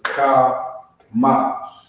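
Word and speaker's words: חמש: Next number is 5, and it's pronounced Kamash. Alright, Kamash.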